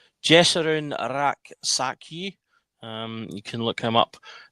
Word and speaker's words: Rak-Sakyi: It's forgive me if I potentially mispronounce this, but it's Jesarun Raksaki.